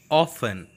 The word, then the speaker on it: often: T must be silent, often.